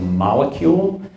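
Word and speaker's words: Molekule: It's called Molecule, spelled like molecule, but instead of a C, it's with a K.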